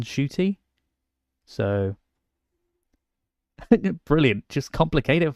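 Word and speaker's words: Ncuti: was used to going he probably never heard the end part of the beginning before and just heard shoy because it is almost silent it's in shoy so brilliant just complicate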